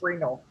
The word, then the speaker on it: renal: sorry the term renault refers to which organs pronounce renal the same refers to